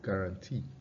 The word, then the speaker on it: guarantee: the sound syllable of guarantee, is a hallmark of unstressed syllables in English. Guarantee. You can see that the stress is on T and the E sound are stressed, but the other ones,